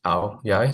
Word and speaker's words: áo dài: So it's Aodai, but it's pronounced áo dài.